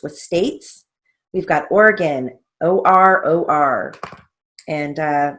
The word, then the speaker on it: Oregon: states we've got oregon o-r-o-r and uh that's not a a long o it's just o o r o r pennsylvania